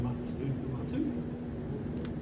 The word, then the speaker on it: Uematsu: Or VGM is so Nobuo Uematsu. How do you pronounce it?